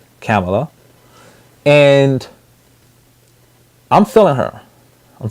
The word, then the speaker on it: Kamala: on Harris keep calling Kamala Harris is the her pronoun proper pronunciation is Kamla and I'm filling her